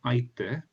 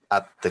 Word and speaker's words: atte: So not aite, but Au oh, atte kudasai.